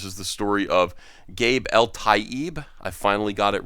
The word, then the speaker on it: Eltaeb: story here this is the story of gabe el taib i finally got it right in pronunciation thank you gabe uh and leaving taking